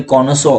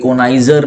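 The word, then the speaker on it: connoisseur: Bureaucracy की spelling सही है, कॉनोसो, कॉनोसो बोलते हैं, कोनाइजर नहीं, कॉनोसो है ये, ठीक है।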